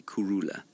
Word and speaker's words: Kurhula: h u l a Kula and the H is almost completely silent it's very slightly aspirated